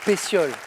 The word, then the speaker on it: pétiole: est prête à tomber pétiole ça s'écrit avec un T mais ça se prononce bien pétiol Josian encore une bonne